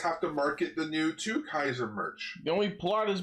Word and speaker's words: Two Kaiser: Because when they first revealed him, they said Two Kaiser, but then I saw people saying it was Sue Kaiser. But I checked the TV Asahi website, and it actually is spelled TWO, Two Kaiser.